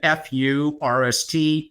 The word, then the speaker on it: Furst: It is, pardon the pun, R-S-T, again, -R-S-T, Furst.